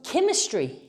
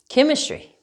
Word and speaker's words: chemistry: it's not it's a c mechanic right um chemistry k sounds yes chemistry all right now let's say the origin is